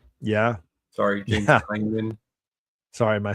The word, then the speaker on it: Tynion: James Tinian. Yeah. Sorry, James Tynion.